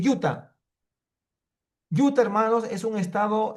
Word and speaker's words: Utah: Unidos que se llama se escribe U T H, pero se dice Utah.